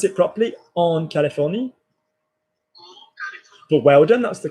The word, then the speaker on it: Californie: Can we pronounce it properly? En Californie.